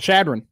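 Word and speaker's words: Chadron: How do you pronounce that? Shadron.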